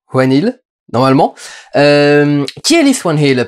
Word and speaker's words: Whannell: Bonjour à tous, il va être question aujourd'hui de Insidious 3, réalisé par Leith Whannell, je crois que ça se prononce comme ça, Whannell, normalement.